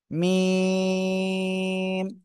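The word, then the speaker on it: ميم: এই মিম অক্ষরটা দুই ঠোটের এই দুই ঠোটের শুকন জায়গা থেকে উচ্চারণ হবে মিম এক দুই তিন চার আলিফ টান হবে কয় আলিফ চার আলিফ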